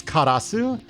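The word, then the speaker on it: Karous: So this is Karasu. For some reason, they spell it Karus or Karos.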